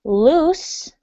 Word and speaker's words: loose: Okay, the words sound almost exactly the same, but in the word loose, you have an S sound. Okay, the S.